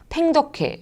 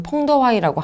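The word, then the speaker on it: 彭德怀: 수행이 되었습니다이 연합사령부의 총책임자는 중국 축에서는 팽적해 중국 발음으로는 퐁더와이라고 하는 사람이 맡았고 북한 측에서는 연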